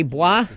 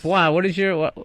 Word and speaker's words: Bois: Bois. Sell cars. Bois, yes. Bois, how do you spell that? I was guessing B-W-A. It's B-O-I-S. It's French-Canadian.